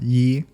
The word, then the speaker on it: Yee: mispronounced as Lee in the Crapshoot special, but it's Yee, I think.